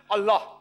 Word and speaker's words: Allah: Similarly we know how to pronounce correctly Allah. They say Allah he said no problem. The right pronunciation is Allah.